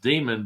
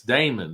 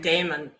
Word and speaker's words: daemon: I mean, if you go a little bit to the left, it might be pronounced demon, but it's Damon. There's a big difference. Damon. D A E M O N. Damon.